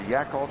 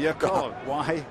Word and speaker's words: Yakult: Now, did you say he played for the Yakult Swallows or the Occult? Not the Occult. Because, we're getting close to the Yakult.